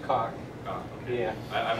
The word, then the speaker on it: Coq: I don't know how to pronounce it. COQ. It's pronounced COQ.